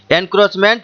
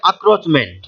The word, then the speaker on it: encroachment: তাহলে এখানে মানেটা হবে কি, এর কাছাকাছি নিয়ারেস্ট বা সিনোনিম হচ্ছে এনক্রোচমেন্ট বা উচ্চারণটা হবে আক্রোচমেন্ট, ENCROACHMENT, আক্রোচমেন্ট বা এনক্রোচমেন্ট মানে জোর করে বা বলপূর্বক কাউরির জমিতে প্রবেশ করা, অনধিকার প্রবেশ যেটাকে বলা হয়।